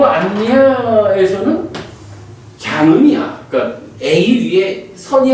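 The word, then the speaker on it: aññā: 요 안야에서는 장음이야. 그러니까 A 위에 선이 하나 그어져 있어요. 그러니까 안야하고 길게 발음하는 거예요.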